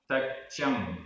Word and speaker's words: तच्चं: तच्चम, तच्चम आधा च पूरा च, तच्चम बहुभेय गयम, बहुभेय